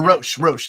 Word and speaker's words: Roche: Talk to Nick Roche about or Roche.